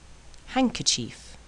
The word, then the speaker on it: handkerchief: afraid do don't and sometimes the D is silent handsome grandmother handkerchief grandfather handcuff Wednesday and